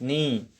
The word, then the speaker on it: knee: Dot is the silent letter of knee.